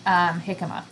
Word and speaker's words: jicama: Look, Drop's family garden is growing jicama. I've never even... He's growing hiccup? Jicama. The J word that you don't pronounce the J on.